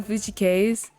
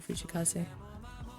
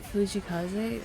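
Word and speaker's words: Fujii Kaze: like oh my gosh you listen to Fuji case that it became the way I pronounced his name oh see I promise I'm not I'm not disrespecting fujikaze on my mama I'll never do something like that I'm just westernizing his name thank you I hope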